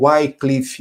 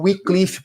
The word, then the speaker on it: Wycliffe: Algumas pessoas colocam Wycliffe. Eu fui procurar qual era a pronúncia correta, mas é o Wycliffe, porque é um W e um Y.